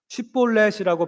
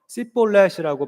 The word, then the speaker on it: 쉽볼렛: 쉽볼렛이라고 발음해보라고 시켰는데 에브라임 사람들은 이 쉬 발음을 하지를 못해서 씨볼렛이라고 발음을 했거든요.